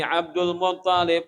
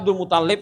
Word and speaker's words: Abdul Muttalib: Ada Abdul Muttalib, ada Abdul Muttalib. Nah, tasdidnya itu di ta, bukan di lam.